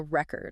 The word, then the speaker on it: record: So when it's a noun, the stress will usually be on the first syllable. Okay. Think about like a record, like a vinyl record, or a present, like a gift. And then when you use the same word as a verb, Yeah. the stress usually moves to the second syllable.